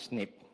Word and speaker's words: SNP: one the first question should be what is Snip snip just uh uh pronounce leap is a variation at a single